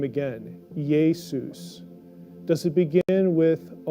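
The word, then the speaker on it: Ἰησοῦς: t-h-e-y they jesus or does it begin with a y sound now jesus aramaic or hebrew name began with a y consonant yeshua but greek does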